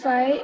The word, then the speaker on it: phi: be gx this gy this angle is fee since phi is denoted in this manner this is phi and this is theta how do you pronounce this as phi phi now get it foreign